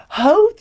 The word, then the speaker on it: Howth: And he's like, you pronounce it how Howth?